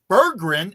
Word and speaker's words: Berggren: It is not Berggren, it is Berggren. That is exact. So Jason's putting the bear up there. It's Berggren, and that's how he told Curbs to pronounce his name.